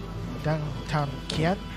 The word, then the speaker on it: Dang Thanh Kien: Thanh Kien, if that's pronounced correctly. Yeah, we got some clarity on that before the match, so I'm told that is exactly how it's said.